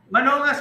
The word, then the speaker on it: Manongas: Manongas, tama po ba yung pronunciation sa apelyido ni Doktor? Manongas po. Okay, silent G pala.